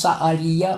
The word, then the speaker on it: Sehaliah: Sa-Aliya, on dit Sa-Aliya. On prononce Sa-Aliya, moteur de toute chose.